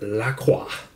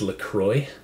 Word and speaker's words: LaCroix: First, we have a can of unflavored La Croix, or some people know it as LaCroix. That'd be the American pronunciation. I'm half French Canadian, so I have to say it, La Croix.